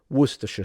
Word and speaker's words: Worcestershire: Why did you even need all of those other letters in there if you're going to say Worcester? But here we are. Now you know how to say Worcestershire sauce.